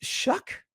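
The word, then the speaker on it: Shough: And who's Shuck? Tyler Shuck is a rookie out of Louisville, I believe. He Oh, wow. And he's spelled sh H O U G H.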